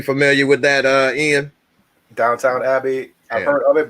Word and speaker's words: Downton: with that uh ian downtown abbey i've heard of it but i've not watched it that's the same thing it's downtown it's not downtown yeah there's no w on the second syllable but but yeah and